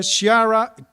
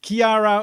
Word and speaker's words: Chiara: And that's for Chiara, no, I still say it wrong, Chiara Ulian.